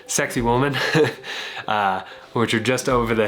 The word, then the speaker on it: Sacsayhuaman: There's the old ruins of Cusco, which are actually pronounced Sexy Woman. I am saying that right. Sexy Woman, which are just over the hill right here.